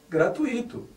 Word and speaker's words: gratuito: a pronúncia correta é gratuito assim como circuito intuito e fortuito o acento não existe